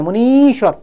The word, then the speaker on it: मुनीश्वर: मुन धन ईश्वर मुनीश्वर उच्चारण में क्या बोलेंगे मुनीश्वर बड़ी ई की मात्रा लगेगी दीर्घ दीर्घ दीर्घ मतलब